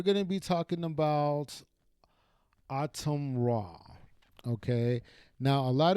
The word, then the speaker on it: Atum: They keep calling him a tomb. Like a tomb in the Egyptian desert, but that's not how you pronounce his name. It's autumn like the fall.